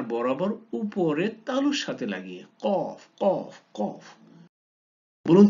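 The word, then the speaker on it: قاف: ক ক ক, কোথেকে বলুন, চেষ্টা করুন কোথেকে উচ্চারণ হলো, জি জিব্বার গোড়া তার বরাবর উপরে তালুর সাথে লাগিয়ে, কফ কফ কফ।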